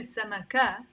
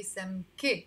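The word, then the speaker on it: سمكة: e sound not a if you pronounce for example samaka it's not wrong that's how we say it in standard arabic but in lebanese arabic we say some k with the e sound okay let's go on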